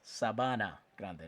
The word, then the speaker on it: Sabana Grande: Grande number eight Ignasio Gonzalez I slightly ly mispronounced that. Sabana Grande, not Sabana.